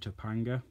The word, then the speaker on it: Topanga: To be honest, I think the first one was best, Terror and Topanga.